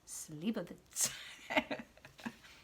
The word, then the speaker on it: Slivovitz: But there is an example of, what did she say, the Slivovitz, that she pronounced Slivovitz, or something like that, which maybe that's how they say it in Hebrew. I don't know. But my Polish and Slovak background, it's Slivovitz. That's minor.